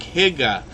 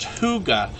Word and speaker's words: hygge: friend it looks like Higa or higgy but it's actually pronounced hygge as if it was h-o-o-g-a and if we hit